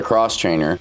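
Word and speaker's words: X-Trainer: The X Trainer, which Beta pronounces it the Cross Trainer, is now in its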